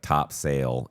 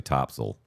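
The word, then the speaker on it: Topsail: the way that but they say them like top sale is actually Topsel. Yeah. You know, Bo Bowfort is spelled Buford.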